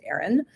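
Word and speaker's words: Aeryon: Um it's called Aaron Wellness. So it's spelled a little different. It's a ee r y o n but it is pronounced Aaron.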